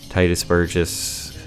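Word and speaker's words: Tituss Burgess: mean Kristen Bell was obviously in frozen right titus Burgess that's how you pronounce his name I'm sorry he has performed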